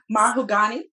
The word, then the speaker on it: Mahogany: is it my mother mahugani because that's how she pronounces her name y'all i like it